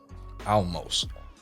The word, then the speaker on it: Olmos: Olmos.